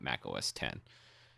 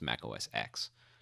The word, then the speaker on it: Mac OS X: the series X and I want to pronounce it like the Roman numeral ten because I spent a decade talking about Mac OS 10 and correcting everyone who said it was Mac OS X so this is trough